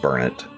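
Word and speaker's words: Burnet: That's spelled B U R N E T, but from my understanding, it's called Bernett. because you know this is Texas and why not say things differently than a spell.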